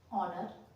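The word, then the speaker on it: honour: जैसे ऑनर, ठीक है, ऑनर, ऑनर नहीं बोलेंगे इसको, ऑनर, एच ओ यू आर, आवर, आवर, honest, H ओ एन ई एस टी, ठीक है, ऑनेस्ट। यहां पर ओ से पहले एच आया है तो एच हमारा साइलेंट हो गया है।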